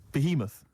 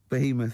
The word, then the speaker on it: Behemoth: Behemoth. Behemoth is it?